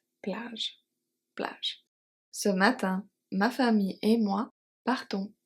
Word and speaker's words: famille: The final is of course silent.